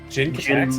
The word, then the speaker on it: Jin: Jin might be terror. I'm going to just go with the fact that the flash track is true. Jyn is terror. I'm not But Jin Futer, not Gin.